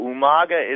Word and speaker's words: Umaga: And so Umaga is the proper pronunciation. Umaga.